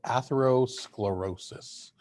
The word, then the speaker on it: atherosclerosis: So, the first one we're going to cover is called atherosclerosis. Another six-syllable word.